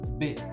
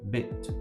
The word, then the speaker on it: bit: Detalhe, tome cuidado também com a palavra bit, que é a informação do computador, ou a palavra pedaço, bit, B-I-T.